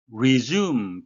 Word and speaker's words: resume: resume 발음에 유의하셔야 되겠는데요. S는 Z 발음이 나겠습니다.